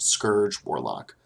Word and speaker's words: Scourge Warlock: Contrary to popular belief, this next class is pronounced scourge warlock. It is not named after Charles Dickens's Scrooge.